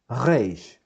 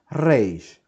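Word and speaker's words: ריש: Don't worry if you cannot pronounce it like Israelis. In fact, nobody cares, okay? But the important thing is that you're pronouncing Reish or a Reish or a Reish and not any other sound, okay?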